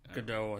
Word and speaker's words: Gadot: Gadot, I think that's pronounced.